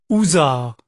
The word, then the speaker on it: Hussard: Hussard, prononcé housard, toujours précédé de gentil ou de fringant.